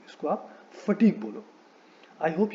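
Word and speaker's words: fatigue: में the mistake that people make is they put too much stress on the first syllable, और इसको बोलते हैं फैटिग. फैटिग is incorrect. Okay, सो आप इसको फैटिग मत बोलो. It should be pronounced as फटीग. Okay, it इज नॉट the first but the second syllable that gets the stress.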